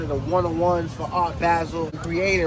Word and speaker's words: Basel: He's making one of the one-on-ones for Art Basel. Creating right here. Yeah, Art Basel. My bad, Basel. I keep saying Basil. Basel. You got to say it right.